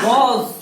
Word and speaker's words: was: WAS, इसको आप क्या पढ़ोगे? बोलो वॉज। क्या पढ़ोगे? वॉज। यहाँ ज किसको पढ़ा हमने? किसका ज बना? एस का।